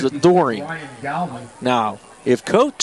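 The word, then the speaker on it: Doren: He pronounces it Dorian.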